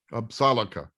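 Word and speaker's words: Apsáalooke: too that the way the way they say it is absaloka absalika that's how they say it salaka and it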